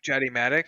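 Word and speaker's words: Jatimatic: at the barrel attic it's not it's a jedi matic okay it's spelled j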